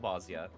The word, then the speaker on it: Bozja: I'm assuming the J is pronounced like a Y, like Bozja.